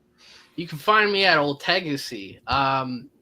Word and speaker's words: Ultegacy: You can find me at Old Tegacy. It's ULTEGACY, Old Tegacy. Let me pronounce it for you a third time, Old Tegacy.